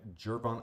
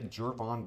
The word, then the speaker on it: Gervon: first round Geron deck gervon I get I get that I don't say his name right guys it's hard for me gervon I think is what everyone says you should say gervon Dexter senior and Tyreek